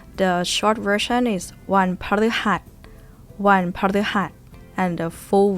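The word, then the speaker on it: พฤหัสบดี: Bodi. This one is very difficult. It's an exception. It's not baddi, but bodi. But you say it quickly, it might come across or heard as budi, buh.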